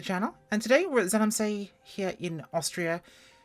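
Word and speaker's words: Zell am See: And today we're at Zellamsee here in Austria, and I definitely mispronounced it this time. Zellamsee? That's the one, close enough.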